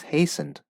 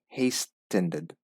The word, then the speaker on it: hastened: This is a funny word because the T is silent. So it's hastened, not hastened.